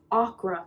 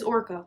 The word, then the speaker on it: Orca: We've got Orca, which I thought for the longest time her name was Okra, but it is Orca, like the whale, just not spelled that way.